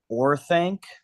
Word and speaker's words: Orthanc: Or I need to pronounce it right. Orthanc.